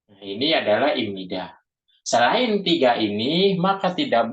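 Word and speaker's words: 입니다: m tuh ya oke Opa Jelaskan lagi kenapa dibacanya imnida OP ya karena huruf P ketemu dengan n maka dibacanya m tuh ketemu dengan n maka dibacanya m tuh Ya ini ini ketemu dibacanya m Jadi dibacanya imnida ya dibacanya Im imnida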